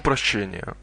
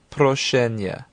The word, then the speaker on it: прощения: Прошу прощения. Прошу прощения. Excuse me is actually two words. Proshu, proshenya. Try and roll your R's.